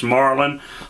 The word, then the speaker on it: Marlon: It's Marlon, like the fish, or like the rifle, or if you remember back that far, like the car.